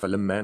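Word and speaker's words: فلما: Okay, FLMA with a strong, it's a strong accent on the M, so it's falamma, not falama.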